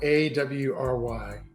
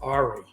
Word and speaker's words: awry: wife the other day uh the word awry it's spelled a-w-r-y and I for years I mean I'm I'm ashamed to say up until recently I used to pronounce it Ari and it was just because I always read